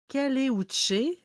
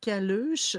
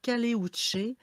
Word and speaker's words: Caleuche: Oui, en fait, moi, j'ai le Caleuche, ou ça s'écrit Caluche, mais en fait, dans c'est en Chili, en fait, donc c'est le Caleuche.